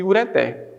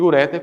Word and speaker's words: ureter: Então, nesse caso aqui, gente, a prosódia aqui da palavra é cateter e ureter, não catéter e ureter, como muitos pronunciam.